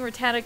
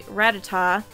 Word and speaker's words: Rattata: catch our rata and I have to get used to saying Rattata cuz I'm not sure